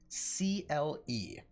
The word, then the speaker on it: Sporcle: Sporcle.